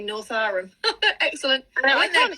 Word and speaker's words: Northowram: Look that you're saying Northowram correctly. Lots of people say it wrong. Oh, am I? Good. 4 First Avenue saying we say Northowram.